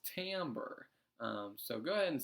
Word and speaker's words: timbre: and by the way I know it looks like timbre or whatever our timbre if the e silent but either way it is Tambor and Tambor essentially is